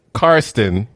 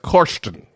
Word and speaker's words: Karsten: And I kept saying Karsten, but in, I want to say Norwegian. In Norwegian, it's actually pronounced Korsten.